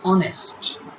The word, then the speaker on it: honest: mute h example an honest h is mute here okay we h is